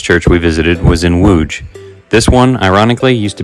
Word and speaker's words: Łódź: So phonetically speaking, one would have a pretty good idea of how to pronounce this from an English-speaking standpoint, but they would be wrong. Let's say this one together. Łódź.